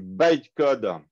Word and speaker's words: bytecode: truc qu'on appelle du bytecode. Bitcode pour les mecs. Bytecode, le Y se prononce byte.